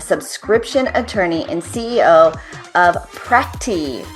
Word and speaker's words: Practi: Matthew Kerbis, a subscription attorney and CEO of Practi, p r a c t i. Practi, I'm so glad you gave me the pronunciation for that.